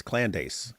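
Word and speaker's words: Candace: indeed and don't don't don't mispronounce her name AP it's clandes clandes not clandes oh cland a ace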